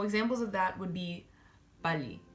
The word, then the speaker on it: 빨리: consonant, or a vowel and another 릴, it's pronounced as an L. So examples of that would be 빨리, right?